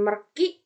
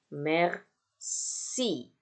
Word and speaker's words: merci: Nah, C ketika dia ketemu dengan I, ya, atau ketika dia ketemu dengan E, itu terbacanya menjadi S. Ya, terbaca sebagai S. Contoh, ini bukan merci, bukan merki, tapi merci. Ya, jadi karena ada I di sini, maka si C ini terbaca sebagai S. Merci.